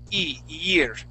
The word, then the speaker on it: year: in front, okay, and we would say year. Okay, we'd start off with that and we'd slide into the rest of the word.